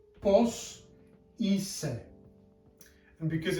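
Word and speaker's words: είσαι: have an E, and when they are together they make the sound E. Take a moment to think how this is pronounced. So this is pronounced pos ise, and because it's a question, that would be pos ise.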